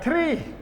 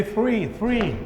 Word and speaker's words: three: Some of you, if I go back to the pronunciation, some of you pronounce the word three like tree, the tree. We take the shade of the three. No, say three, okay, three. So how many conjunctions we have so far?